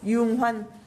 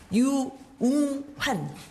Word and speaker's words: 유웅환: 유웅환 성함 그렇게 됩니다. 전 SK혁신그룹장. 마스크를 한 번만 벗고 발음을 해드릴게요. 유웅환.